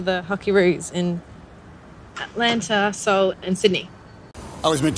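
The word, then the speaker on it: Seoul: this is not correct this city should be pronounced in a very similar way as the word Soul so it's not seul it is soul and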